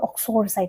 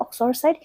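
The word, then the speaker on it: uxoricide: Next word is, how do we pronounce this word? It's called oxoricide. What is it? It's called oxoricide.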